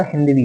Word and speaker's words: हिंदू: जो तुर्क भाषा थे जो तुर्की थे वो सा को ह बोलते थे इस वजह से उसका उच्चारण जहां जहा सिंधु सिंधु होना चाहिए था वहां हिंदू हिंदू होता गया ठीक है हड़प्पा संस्कृत